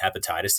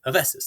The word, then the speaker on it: Hephaestus: where they call them hepatitis the entire time which is super embarrassing so if you are curious how to say his name and you live in